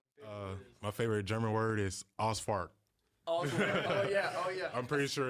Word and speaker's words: Ausfahrt: But it sounded like you said Asfahrt. How do you pronounce it? Ausfahrt. Ausfahrt. Ausfahrt. Ausfahrt. Yeah, the problem is like you can't have like the r. Hard R.